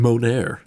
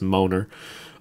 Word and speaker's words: Moner: But, uh, yeah, Isabella, um, she I think she pronounces her name Monaire. I just just know thought it was Moner.